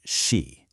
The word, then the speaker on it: 时: This is pronounced Shí.